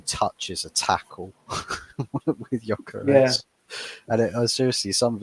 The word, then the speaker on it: Gyökeres: It's not Gyökeres. It's a silent G. It's Gyökeres.